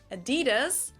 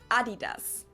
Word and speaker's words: Adidas: were referring to because they usually pronounce it Adidas and in Germany we say Adidas Adidas Adidas super different it's the secondar manufacturer